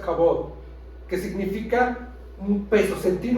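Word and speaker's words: כבוד: honra en el hebreo significa se eh se pronuncia jabot que significa un peso sentir un peso en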